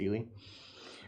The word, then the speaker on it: Ely: It's Ely. It's pronounced Ely.